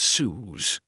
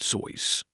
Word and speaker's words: Seuss: While the entire world says Suz, the man himself stated that his name actually rhymes with voice pronounced Zois.